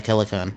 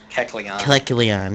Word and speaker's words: Kecleon: Because besides the plus level mining I used to run in third gen, I also had a Kelecon. I can't even pronounce it. Kecleon, yes.